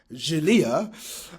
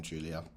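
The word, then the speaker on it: Giulia: Um, so yeah, disclaimer uh before we carry on, I have to apologize to Julia, not Jalia.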